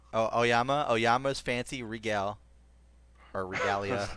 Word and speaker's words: Aoyama: Aoyama. Oh, Oyama.